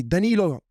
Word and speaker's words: Danilo: And there I hear somebody say, "Hey, Danilo, come here."